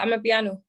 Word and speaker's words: Amapiano: Amapiano. Amapiano. You said it right. It's literally ama, A-M-A, and then piano. But you have to have that ama. It's like saying I'm a piano.